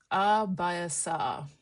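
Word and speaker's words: abhyasa: So practice in Sanskrit is pronounced abasa and it's a concept which is found in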